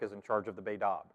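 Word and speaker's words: בית אב: in charge of the baidaab right it's written b e t space a b but it's pronounced baidab so the baidab here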